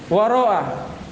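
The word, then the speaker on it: وراء: Ar-rabi'u, yang keempat, waro'a. Waro'a bil maddi, dengan dibaca mad. Mad maksudnya mamduda. Iya, di ujungnya hamzah. Baca panjang.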